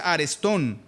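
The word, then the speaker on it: ἀρεστόν: El término griego se es una palabra que se pronuncia arestón y quiere traducir como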